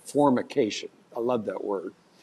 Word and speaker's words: formication: By the way, the word for that, zingers, is called formication. I love that word. It's spelled with an M. You have to purse your lips when you say that one.